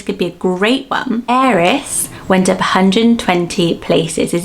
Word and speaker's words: Eris: So it looks like you would say Aris, like you would say Harris, but without the H, but it is Eris is its pronunciation. Some people even say heiress, like a heiress to a castle, like that.